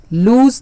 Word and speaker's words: lose: The news may be true, the date may be postponed, he may lose the way.